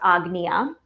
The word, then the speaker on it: Ajna: So, today I'm using for our third eye chakra, our agna chakra, um, spelled ana or ana. Ajna spelled a but pronounced agna.